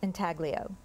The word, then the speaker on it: intaglio: Intaglio, are there any alternate pronunciations? Intaglio, intaglio.